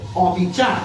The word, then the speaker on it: অবিচার: এখানে অ শব্দটি না বোধক অর্থে বসেছে। অর্থাৎ বিচার নয় যা তাই হচ্ছে অবিচার। তার মানে এই শব্দে অ না বোধক অর্থে বসেছে। তার মানে এখানে ওই নিয়মটি প্রযোজ্য নয়। তাহলে এই শব্দের উচ্চারণ হবে অবিচার। অর্থাৎ এখানে অ এর উচ্চারণ ঠিক থাকবে।